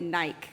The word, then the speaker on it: Nike: protests against Nike or I guess that you would pronounce it naik I should have just started by getting that cultural snafu out of the way I'm gonna call it Nike and and then over